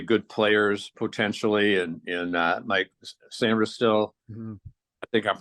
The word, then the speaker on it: Sainristil: Yeah, I definitely liked their trade with Philadelphia, where they got, I think, 2 really good players potentially, in Mike Sainristil. Mm-hmm. I think I'm pronouncing that correct.